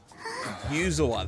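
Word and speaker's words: Yuzuha: Yuzua. That's how you pronounce it.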